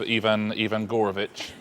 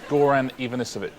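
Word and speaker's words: Goran Ivanišević: Well, let's clear up the mysterious case of Ivan Gorovich. You did get all the right syllables, just not necessarily in the right order. It's called Goran Ivanisevic.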